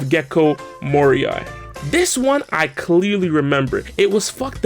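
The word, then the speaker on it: Gecko Moria: list we have gekko mourier instead of gekko moriai this one i clearly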